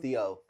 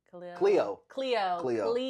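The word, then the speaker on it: Khleo: Theo. No, it's like a K. Cleo.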